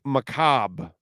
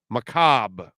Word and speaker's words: macabre: um it is pronounced Macabre Macabre with a short a okay uh if you